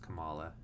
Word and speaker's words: Kamala: I love Kamala or Kamala I keep saying Kamala because Kamala Harris but it's pronounced Kamala um I think she's gonna be amazing in